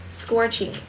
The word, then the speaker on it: scorching: Vậy các bạn nhớ cong cái lưỡi của mình lên ạ. Chúng ta sẽ đọc là scorching, scorching, scorching.